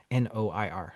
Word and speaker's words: noir: N O I R. I'm having a Noir. Noir. Thank you. For some reason, I couldn't pronounce it with my mouth.